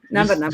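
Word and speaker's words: Napanoch: Napanock. Just pronounce it in two, like Napa, like the auto parts. Napa. Yeah, it's a weird name. Napanock.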